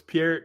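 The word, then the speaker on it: Peart: I say Neil Per. I know it's Pier, however, how you say it, but I was raised saying per. So, to me, it's Neil Per.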